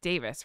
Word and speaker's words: Davies: It says Greg Davies I always say Davies, but it's Davis, right? He pronounces it Davis.